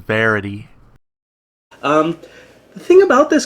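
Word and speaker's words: Vérité: an interesting card and i i think i'm pronouncing it right the rendition verite or v right card i eventually learned it's actually pronounced verity um the thing about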